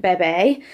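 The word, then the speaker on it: Bébé: from Jojo Mum and Bebe, I think is how you say it. Someone made fun of me for saying Bebe, and I was like, but it's French, it's got an accent on it.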